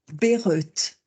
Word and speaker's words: Bayreuth: vous allez chercher pour savoir ce que peut-être Berut alors c'est c'est drôle mais on me on